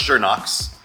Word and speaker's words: Schönox: Schönox actually is pronounced Schönox. That's the correct pronunciation. The industry knows it as Schönox.